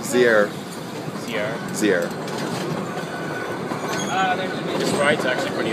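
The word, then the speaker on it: Zierer: Actually, it's pronounced Zier.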